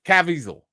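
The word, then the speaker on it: Caviezel: Cavisel.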